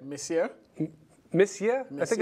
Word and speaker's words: monsieur: I think it's Monsieur. I think that's Mr., right? Monsieur? Monsieur? I think it's Monsieur. No, it's Monsieur. I like Monsieur better. But it's Monsieur. Okay. It's spelled Monsieur, but it's Monsieur.